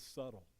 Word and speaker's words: subtle: the first round anyways with subtle and I forgot the silent B so that's that's my